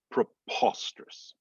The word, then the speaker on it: preposterous: that second word preposterous again we're going to lose the uh we're going to lose a syllable because we're dropping the vowels there so it's going to sound more like it's going to be past it's where the accent is going to be preposterous preposterous preposterous so pre we're not hitting that e so it's still like pr preposterous laboratory the accent they